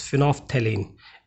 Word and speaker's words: phenolphthalein: फिनॉल्फ्थलीन, phenol यहाँ लिखा है बट इट इज़ फिनॉल्फ्थलीन, एल is silent here.